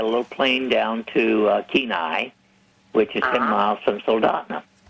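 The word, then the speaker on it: Kenai: Anchorage they got a little plane down to keenai which is 10 miles from sna yeah I'm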